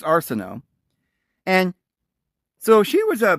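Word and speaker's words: Arsinoe: sister her older sister some make pronounce it Arsenio like that Arsenio Hall guy but it's Arsenal and so she was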